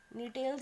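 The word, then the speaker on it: Gnetales: नीटेल्स इसलिए क्योंकि यहाँ पे भी जी क्या है, साइलेंट है, ठीक है, या इसको एफेड्रा भी बोल सकते हैं।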